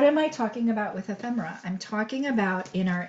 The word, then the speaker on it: ephemera: first way is um try to learn to pronounce it it's a difficult word lots of people have like really had a rough time with it but it's like fem ephemera and so we are